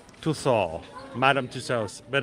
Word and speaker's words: Tussauds: Yeah, it's French. It's weird. It's Tussauds.